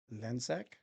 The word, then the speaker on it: Lencsak: So today's today's interview, we have Agent Lensek.